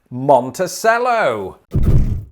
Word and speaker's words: Monticello: the place in arkansas which says that it's pronounced monticello we're on the final one i have five